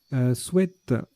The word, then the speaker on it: sweat: Sweat, tiens, qu'on peut prononcer sweet maintenant, c'est nouveau. On a toujours dit c'est sweat, sweat, sweat. Et ben donc on peut dire sweet, voilà, maintenant.